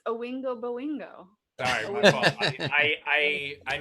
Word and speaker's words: Oingo Boingo: It's Owingo Boingo. Sorry, my fault. I mispronounce stuff.